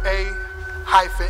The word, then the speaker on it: A-Hem: the group is spelled a hyen h e m and it's pronounced like when you clear your throat and the way it